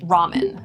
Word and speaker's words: ramen: No list of food would be complete without the word ramen. Ramen. This comes from the Japanese diamond. D. So you'll notice the pronunciation is a little bit different, but probably you're going